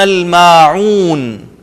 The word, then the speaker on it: الْمَاعُونَ: یہاں پر دونوں عین, یمنعون کی بھی اور ماعون, ان دونوں کو آپ انڈر لائن کر لیں کہ تلفظ میں آپ نے ان میں محنت کرنی ہے. وَيَمْنَعُونَ الْمَاعُونَ, اور عام ضرورت کی